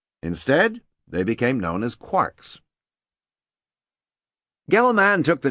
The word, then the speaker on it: quark: Discriminating physicists rhyme the word with storks, not larks, even though the latter is almost certainly the pronunciation Joyce had in mind. The fundamental simplicity of quarks was not long-lived.